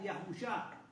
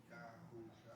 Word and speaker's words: Yahusá: No les voy a decir el nombre en paleo, se lo voy a pronunciar. En paleo antiguo, o sea, antes del hebreo era Yahusá. Yahusá.